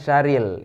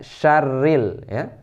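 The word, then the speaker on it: شَرِّ: mendengar Meisya Ril Sheryl bukan Syahril yang benar yang benar syarril jadi ini diingat me syarril syarril ada tasydidnya West wae ini wes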